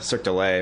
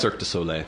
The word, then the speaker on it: Cirque du Soleil: their six kids to cirque du lay or how do you say that cirque du soleil cirque du soleil and